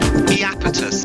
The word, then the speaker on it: Iapetus: Iapetus, by the way. It's pronounced Iapetus. Put an emphasis on the E at the start.